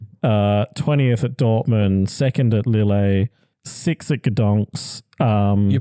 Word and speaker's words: Lille: just his last year, 20th at Dortmund, 2nd at Lille, 6th at Gdansk. You pronounce that different every time, and it's always wrong.